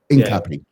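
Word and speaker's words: Hincapié: Hincapi.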